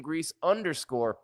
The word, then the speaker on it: Gries: GRIES is how you spell it, at Grease _ on social media.